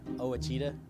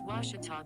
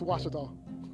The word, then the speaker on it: Ouachita: university back in texas everybody pronounces it wichita but really it's ouachita washington washington how would you pronounce it it's washita baptist university get it right it's watertall people it's watch it all wash it 9-4 453